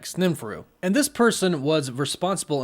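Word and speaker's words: Sneferu: similar name spelt s-n-e-f-e-r-u which would be kind of like sninfuru and this person was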